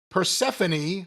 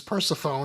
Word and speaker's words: Persephone: 6-minute overrun, continuation of that match, and the post-match with Persephone, who we previously pronounced as Persephone, and everyone got mad.